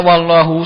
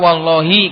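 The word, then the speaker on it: وَاللّٰهِ: salah Ya, kalau baca kalau ada sumpah kemudian bacanya wallahu salah harus dibaca wallahi karena wawu di situ adalah huruf jar wa innama afrodal musonif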